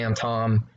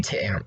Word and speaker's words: Tam: Later on, they changed it to Tom. They say his name differently. I don't know if that's true, Yeah. but it should be Tam. Tam is the right name. I feel like Tam is the right pronunciation.